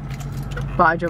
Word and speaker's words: Baja: Baja Blast. Sure does. And you hit that J hard. Yep. You don't say Baja, you say Baja.